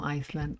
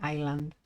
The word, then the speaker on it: island: An island, sorry. The S is silent. No Iceland, only island.